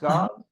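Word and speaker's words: Gause: a small town right is it Gau is it pronounced Gau you got it Gau Texas and does coming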